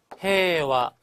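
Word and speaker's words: 平和: 정치, 해와 마찬가지로 해이와라고 써서 해와라고 읽고 평화라는 뜻입니다.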